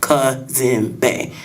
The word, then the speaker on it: Cazembe: I am Cazembe. It rhymes with Kente. That's to help the people who don't know how to pronounce Cazembe. It's really easy. Cazembe. Or, but say Cazembe because is a cop-out.